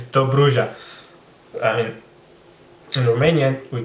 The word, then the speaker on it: Dobruja: It's Dobruja.